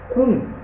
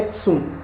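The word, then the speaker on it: cun: Esse C-U-N, esse Kun, ele é a pronúncia, ele é escrita dessa forma, mas a pronúncia dele é Tsum.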